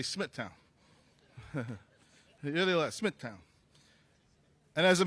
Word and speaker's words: Smithtown: meetings we had and I learned something from you today too that it's pronounced Smithtown so from now on I'm going to say Smithtown really Smithtown and as